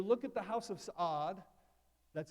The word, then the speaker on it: Saud: So you look at the House of Saud, that's how you pronounce it, by the way.